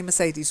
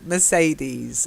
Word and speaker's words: Mercedes: bit awry then Mercedes I can't let you say Mercedes wrongly because Shyam because science would never forgive me so Mercedes okay I've seen these okay